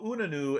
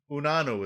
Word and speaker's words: Unanue: Unane's I cannot pronounce this guy's life to save my life. Unanue. Unanue is how it looks to me.